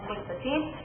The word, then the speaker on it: Qwick15: Like I said, just call me Qwick15. Anyway, thank you very much. I know it's spelled wrong. That name was already taken, so I added the W instead of U. Pronounce it the same way.